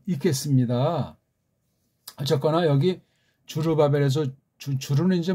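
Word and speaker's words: 스룹바벨: 에드라와도 관계되고 이게 학계랑도 관련되고요 발음을 원문 발음을 했으면 얼마나 좋았을까 하는 그럼 원문 배열도 굉장히 도움된다고 제가 간간히 말씀드리는 봐요. 주루 바벨 그렇게 끊어 읽는 것이 괜찮을 겁니다. 그렇죠?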